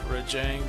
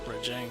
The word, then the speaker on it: Rajang: Rejang doesn't exactly get it peacefully. Oh, Rajang. I should probably pronounce it. Rajang sounds like it reminds me of Tang, like the orange juice.